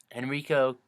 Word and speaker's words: Henrico: Henrico, yeah, that's how you pronounce it.